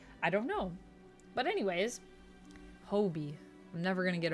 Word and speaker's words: Hobie: Sorry, I've been saying it Hobby my whole life, and then I found out in Across the Spider-Verse I was saying it wrong and it's supposed to be Hobie.